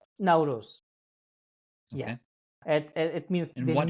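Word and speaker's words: Nowruz: uh celebration which was uh how do you pronounce the name of the now Rus now Rose yeah it means and what happened what happens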